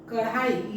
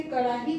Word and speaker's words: कड़ाही: हम उसी को लिखेंगे और जब हम बोलेंगे कड़ाही को कढाई तो हम लिख भी देंगे कढ़ाई तो हमारा ये सब